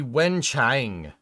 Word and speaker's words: Wenchang: It'd be Wenchang, with A and G being pronounced closer to long.